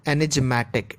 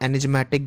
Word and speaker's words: enigmatic: Some of you might be confused in the exact pronunciation of this word. Someone might call it enigmatic. It is not enigmatic guys, it is enigmatic.